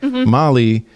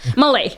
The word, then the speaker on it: Malay: Okay, so we've got Hindi, Bengali, Mali. What was the other one? Malay. Malay was Malay. Yes. Malay. Sorry, I mispronounced that.